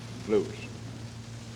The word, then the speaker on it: Lutz: It could be Lutz or Lutz. I don't know what's the correct pronunciation of it. Lutz. I'm assured by a good friend that it's Lutz.